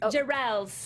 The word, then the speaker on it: Jirrels: is, it's technically my dad pronounces it Jirrels, so it's Jirrels.